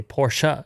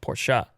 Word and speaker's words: Porsche: for example with porsche if you don't say porsche you have to put porsha anyway car car company